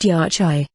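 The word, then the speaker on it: yachay: beings intertita east fire yoki pronounced yachai which means wisdom knowledge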